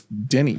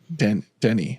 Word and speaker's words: Dene: So Nahanni is a word from the indigenous Dene people. Dene, I think is how we're going to pronounce that. Dene. It's a Dene. So that's how we're going to say it.